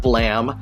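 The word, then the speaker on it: Blame!: example myself anyway moving on we get to blame academy and so on and i'm going to say i know that it's pronounced blam the series by tsutomu nihei is blam uh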